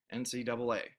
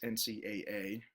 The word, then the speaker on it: NCAA: NC, individuals spoken separately, the word double, and then A, NCAA.